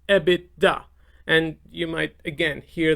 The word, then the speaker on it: EBITDA: to your operating income the term would be ebit da this is pronounced ebitda and you might again hear this term a